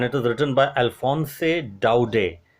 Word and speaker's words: Daudet: is written by Alphonse Daudet. T is silent. Alphonse Daudet, a very renowned, prolific short story writer here, and got it, a very renowned short story writer, novelist.